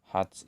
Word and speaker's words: heart: Heart itu bisa bermakna hati, pusat atau inti. Heart. Bacanya heart, bukan hurt.